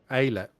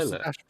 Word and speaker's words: Alet: We've always been saying his name wrong. Alet. Not Eilert.